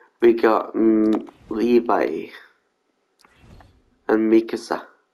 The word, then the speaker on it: Mikasa: got um Levi and Mikasa people keep pronouncing their name wrong as well people keep saying Picasso it's not let's get Levi first